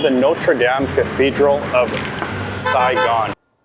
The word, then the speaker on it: Notre Dame: It's the Notre Dame. We need the ah sound. Like hot and stop. Dame.